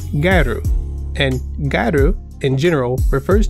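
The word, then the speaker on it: ギャル: First, gal in Japanese is pronounced garu, and garu in general refers to a type of Japanese fashion usually worn by women.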